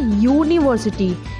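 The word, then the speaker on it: university: वो रॉन्ग हो जाएगा, क्योंकि यूनिवर्सिटी का अगर हम साउंड देखेंगे तो इसका साउंड है यूनिवर्सिटी, इसका प्रोनाउंसिएशन है यूनिवर्सिटी, और इसका साउंड जो है वो यू, यानी य, य जो कि एक कॉन्सोनेंट है, यानी व्यंजन है, क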